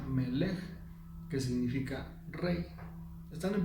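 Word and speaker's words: מלך: La M de amén es tomada de otra palabra que en hebreo se pronuncia Melech, que significa rey.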